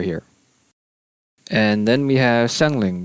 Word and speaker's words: Xiangling: And then we have Xiangling, which in Cantonese is Hengling. Hengling.